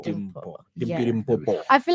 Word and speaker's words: Dimpo: pronounce it Dimple. Dimpo.